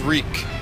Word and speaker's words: Reek: yes yes indeed my name is reek reek it rhymes with squeak yes yeah yes yes